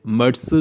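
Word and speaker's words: Meursault: दोस्तों इस कहानी का मेन कैरेक्टर है मर्सू नाम का एक आदमी। ये फ्रेंच प्रोनाउंसिएशन है इस नाम की।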